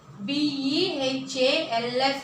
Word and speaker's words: behalf: BEHALF, behalf. ఇక్కడ కూడా L pronounce చేయకూడదు, బిహాఫ్ అని చదవాలి.